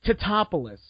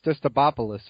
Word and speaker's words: Tatopoulos: Yeah, but and of course they're like Stostopoulos or whatever. It's not a difficult name to say. If you look up the spelling, it's pronounced phonetically. It's T-A-T-O-P-O. It's phonetic. It's Tatopoulos. It's not hard to say.